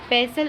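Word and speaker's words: pestle: रस निकाल सकते हैं पसल एंड मोटर मसल और रर आपने देखी होगी मसल इसमें अपन कोई भी अदरक बदर कुछ भी कटते हैं इसे बोलते हैं पैसल इसमें ती साइलेंट रहता है पैसल एंड मोटर डफ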